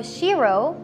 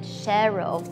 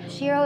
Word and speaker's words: Shero: about the name itself so Shiro a lot of people actually mispronounced it Cheryl but Shiro is actually a new added word in the dictionary meaning female